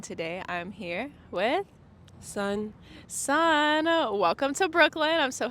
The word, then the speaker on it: Sughn: So, um, right now we're just doing a promo run for my new project, It's Pronounced Sun.